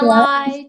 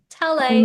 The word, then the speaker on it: Talei: So Oh, Talei, yeah. When you see it written on paper, it's spelled Talei, but I've had that really throws up some interesting pronunciations. So I've had yeah. Talai, Talei.